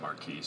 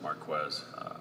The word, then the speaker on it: Marquis: off of craig brackens it's marquez gill strap it's spelled like marquise but it's marquez i made the same